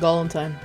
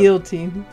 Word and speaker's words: guillotine: It's not Galantine. That's completely what it was, it's my bad. It's Guillotine. Is guillotine? I think that's Galantine. How you say it. Oh my god, oh, I remember know, it now. It is guillotine.